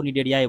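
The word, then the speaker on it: Cnidaria: पोरा plate कोनो फोरा को डेरिया बोलते हैं डेरिया सी यहां पे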